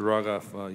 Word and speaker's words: Rogoff: Rogoff, you were, did I say it correctly?